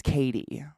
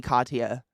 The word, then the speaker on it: Katie: ] up it's like my name is Katie k-a-t-i-e and I still get it mispronounced a lot I've told you guys I had a fourth grade teacher who insisted on calling me Katya like I would go